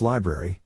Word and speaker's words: LBRY: various and unrelated forms lbry pronounced library was the next project